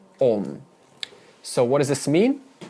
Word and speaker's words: Om: even further through santi a plus u in sanskrit equals o so the true pronunciation of aom is on whether it's spelled a-u-m or o-m you don't pronounce it aom it's pronounced on so what does this